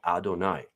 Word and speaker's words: Adonai: As it actually sounds, that's the way it's spelled, Adonai. Now, Adonai is actually a plural, my lords.